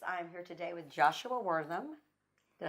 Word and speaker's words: Wortham: I'm here today with Joshua Wortham.